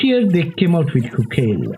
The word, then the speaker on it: Chuchel: Should I say Kukel? Actually, if you pronounce it in the Czech language, it will be Kukel.